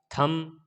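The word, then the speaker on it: thumb: एम के बाद बी आया थम, बी साइलेंट होगा।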